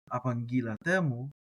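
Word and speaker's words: ἀπαγγείλατέ μοι: You're going to pronounce those as if they're one word. Apangilatemu.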